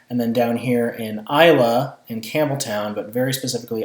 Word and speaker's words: Islay: This is pronounced Islay, not Islay. Okay, Islay.